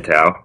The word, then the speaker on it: Tao: so as you said my name tau I was just saying I get called all the time so pronunciation is not